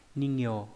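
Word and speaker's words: 人形: Âm ghép đọc là gyo hoặc là ke. Ví dụ ningyo là nhân hình, là búp bê.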